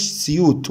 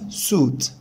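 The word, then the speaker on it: suit: طبعا ما اسمهاش سيوت ولا اسمها سويت، البدلة اسمها سوت سوت سوت. طبعا دي لونج او سوت سوت سوت.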